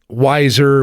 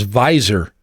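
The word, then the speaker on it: Weiser: So you the before we left and went to break you talked about wiser weezer. So actually the correct pronunciation is visor. It's German.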